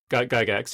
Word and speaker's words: Gygax: So Gary, is it Gygax? Yeah, Gygax, yeah. Gygax, I've never known how to pronounce it.